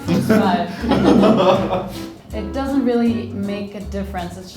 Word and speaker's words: Fußball: I mean, there's the double S, which is pronounced like slower, and this one is supposed to be pronounced faster. That's just it. but- Fußball.